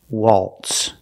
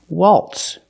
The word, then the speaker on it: waltz: let's look at pronunciation Waltz the vowel is to sound ah we see the sound in words like call and Maul audio and saw the sound is in the back back here ah Waltz Waltz you see the letter Z but we don't pronounce the zebra sound we use the true s sound Waltz so the T